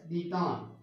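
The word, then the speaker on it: détente: इट is written as DETENTE, but it is pronounced as Detan.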